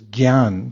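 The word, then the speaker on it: jñāna: the in Sanskrit the word for knowledge is Gan can everyone say Gan what's uh what what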